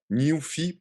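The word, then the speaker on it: Nuphy: Nufy, pour le prononcer en anglais, c'est ça très drôle, très mémorable. N-U-P-H-Y.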